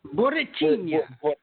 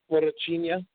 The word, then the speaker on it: Borrachinha: I can't pronounce his name, Porcatino or whatever. Borrachinha. Borrachinha.